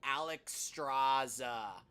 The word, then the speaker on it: Alexstrasza: I know how to say her name, Alexstrasza.